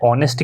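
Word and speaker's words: honest: ऑनेस्ट की अगर हम बात करेंगे, भले ही एच से स्टार्ट होता है लेकिन एच जो है साइलेंट रहेगा। यहाँ पे हम ऑनेस्ट पढ़ते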